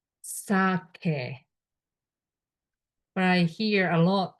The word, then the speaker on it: sake: I pronounced sake, but I hear a lot sake. But when you talk with Japanese, pronounce sake, which is this. Sake. So English E is always e.